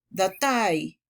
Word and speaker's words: Datei: Los sustantivos que terminan en ay o ion también hay que acentuarlos en su última sílaba. Por ejemplo, Datei, nación.